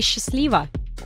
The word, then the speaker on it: счастливо: but you can say счастливо. Счастливо. Is there anything particular to note about the pronunciation? Good question. The first sound in счастливо is pronounced like the sound sh and not sch.